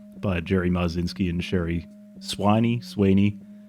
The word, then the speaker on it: Swiney: We're going to say Sweeney. It's a bit nicer than Swiney, even though it's spelled, much nicer than Swiney. Like Swiney. I think that anyone with a name that is spelled like that is just going to say, it's Sweeney. It's Sweeney. Like, whatever it was. Yeah. Whatever it was, it's Sweeney.